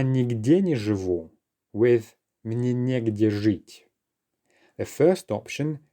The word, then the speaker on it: негде: Pay attention to негде here. We have a letter ye, and the stress is on that first syllable.